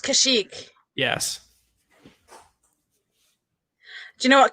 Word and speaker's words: Kashyyyk: There's 3 Y's. It's okay. And it's pronounced Kashyyyk.